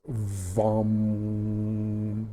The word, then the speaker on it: vam: So you have the second chakra, which is orange, and it's VAM, V-A-M, but also pronounced V-A-M-N-G. You want to get that at the end, VAM, VAM.